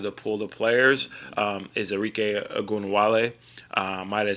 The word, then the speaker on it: Arike Ogunbowale: Is Arike Ogunbowale. Might have said her name wrong.